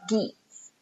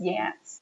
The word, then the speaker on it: Geats: Oh, the other thing he says is, we are geats. That's not how you pronounce that word. It's yats. We are geats.